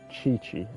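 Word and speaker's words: Qiqi: Chi-Chi is how you pronounce her name, you guys.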